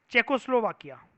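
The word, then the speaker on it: Czechoslovakia: इस कंट्री की प्रोनाउंसिएशन होती है कशिश खतरनाक सी, ये जो दिख रहा है ना आपको, चेकोस्लोवाकिया। क्या बोलते हैं? चेकोस्लोवाकिया। जेड साइलेंट होता है।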